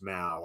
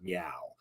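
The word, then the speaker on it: Miao: this is Nora Mal I believe it's pronounced Mao I mean I don't want to pronounce it meow uh m-i-a-a-o so Nora Mao I'm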